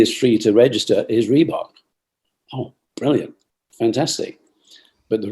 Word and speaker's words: Reebok: Reebok. Easy. 2 syllables.